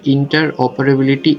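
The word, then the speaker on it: interoperability: একটা হচ্ছে একটা শব্দ ইন্টার, আর একটা হচ্ছে অপারেবিলিটি। আইওটি ইকোসিস্টেমের ইন্টার অপারেবিলিটি এর প্রয়োজনীয়তা আলোচনা করো।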